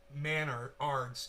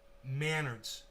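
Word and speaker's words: Menards: Pronounced Manards. It's the Canadian Home Depot. Manards. Like manners, but Manards, like manners with a D.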